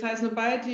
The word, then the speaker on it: Highsnobiety: Am I pronouncing Highsnobiety right? Is that right? Yes, it's correct. Exactly. It's Highsnobiety.